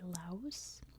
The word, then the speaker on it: Laos: French colony, and in French they love to put silent S's at the end. But in American English, we say Laos.